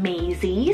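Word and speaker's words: Mazie: It really depends on how you want to pronounce it, but it's a French-rooted name meaning to live. Then we have Maisie, spelled M-A-Z-I-E, Maisie.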